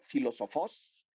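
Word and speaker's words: φιλόσοφος: significado en este sentido la palabra filósofos en griego así se pronuncia filósofos es singular y es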